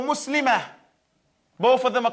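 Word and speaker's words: مسلمة: However, when you stop on the tar marbuta, you pronounce it as a ha. So here, that's when you read this, you say muslimatun, muslimatan, or muslimah.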